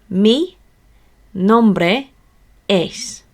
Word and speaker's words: mi nombre es: So let's break this down into smaller syllables so we can understand it, how to pronounce it. So it goes mi nombre es.